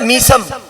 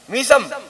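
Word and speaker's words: ميثم: रात का अंधेरा मौला चले, हजरत मीसम सब जानते हो ना, है मीसम, मैसम प्रोनाउंसिएशन गलत है, कसरे के साथ, जेर के साथ, मीसम।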